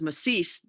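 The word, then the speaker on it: Macís: He was from Costa Rica, and it is Macis. In Costa Rica, it has a accent on the I.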